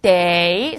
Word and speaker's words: 得: 첫 번째 day 삼성으로 읽으면요.